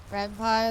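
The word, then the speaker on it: Ren'Py: Renpai is pronounced like senpai because of Python. I always pronounce it Rempe.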